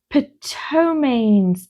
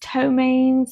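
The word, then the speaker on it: ptomaines: Ptoains. Toains. I think the P is silent.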